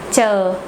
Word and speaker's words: chờ: Chờ, chờ. Pronounce it like the word chip or chicken in English.